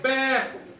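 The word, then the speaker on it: Bder: Ils appelaient l'île à l'époque Bre. Ça s'écrit B D E R.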